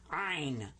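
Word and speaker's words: ʿayin: In Ein, you kind of squeeze the back of your throat when you pronounce this one.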